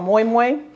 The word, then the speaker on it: moin moin: to make next okay this is called moymoy um and it's pronounced but it has an n on the end because originally it's in the Yoruba language and that's the your